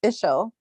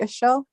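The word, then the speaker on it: Ixchel: x g s c h e l it's pronounced ishel ER ishel was the Mind goddess of the moon of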